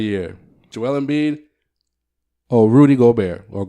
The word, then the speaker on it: Gobert: Oh, Rudy Gobert, or Gobert if you want to pronounce it the way you want to pronounce it.